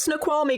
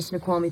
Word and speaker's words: Snoqualmie: the route to Seattle, she pronounces Snoqualmie correctly. Once we're out, we'll follow the Snake River Canyon, then break off through the Snoqualmie Pass.